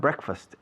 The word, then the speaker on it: breakfast: Pero la pronunciación se ha evolucionado hacia una palabra de sonido diferente.